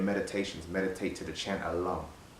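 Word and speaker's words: LAM: You know, when you're doing your meditations, meditate to the chant Alum. It's spelled L-A-M, but it's pronounced Lum.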